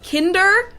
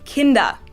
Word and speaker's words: Kinder: word kindergarten in german we don't say hinder we say kinder kinder we also don't